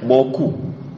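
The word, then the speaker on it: beaucoup: Bou chou. Bacanya boku.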